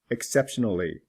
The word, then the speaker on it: exceptionally: is not pronounced exceptional exceptionally the O is pronounced incidental incidentally not pronounced